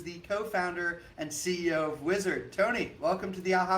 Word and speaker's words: Uizard: that don't know uh wizard actually written out u-i-z-a-r-g did i spell that right yes amazing awesome so uizard um is a design